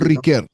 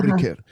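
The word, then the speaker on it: Ricœur: Uno puede decir eh de acuerdo al idioma que uno habla tiene que pronunciarlo. Paul Ricker. Yo quiero estar en París y digo Paul Riquer.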